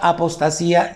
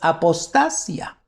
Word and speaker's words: apostasía: Esta palabra apostasía ya está en el griego. Nada más que nosotros la leemos apostasía con acento en la I, pero ¿qué crees? En el griego es apostasia.